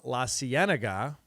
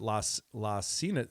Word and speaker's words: La Cienega: It's been a while since I lived in L.A., driving down La Cienega, which when I first moved there, I called it La Cienega. I didn't know how to say it.